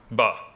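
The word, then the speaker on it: باء: And it's pronounced like a shorter version of the English letter B.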